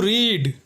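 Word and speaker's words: read: studied पढ़ना पढ़ना टू रीड रीड रेड रेड दोस्तों यहां पर तीनों की स्पेलिंग एक ही है लेकिन प्रोनंसिएशन अलग है सीखना या याद करना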